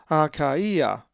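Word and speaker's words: Αχαΐα: For instance, a Greek word that has the iota diaeresis is akaia, which is the place achaia, and is number 882.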